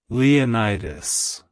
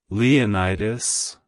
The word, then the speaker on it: Leonidas: Greece it's pronounced as leonitis leonitis leonitis to pronounce it correctly emphasize the Lee at the beginning and the D at the end the O New York